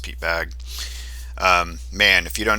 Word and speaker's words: Bagge: Pete bag's other lives I think it's pronounced Pete bag um man if you